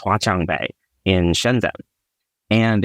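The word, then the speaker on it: 华强北: And just because when I was a kid, I always loved technology, I heard there was this market called, I think it's pronounced Huaqiangbei in Shenzhen.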